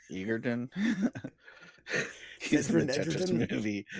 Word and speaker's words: Egerton: Egerton.